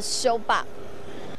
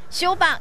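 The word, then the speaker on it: 小北: 译就叫做修霸。修霸就是小北台语的发音。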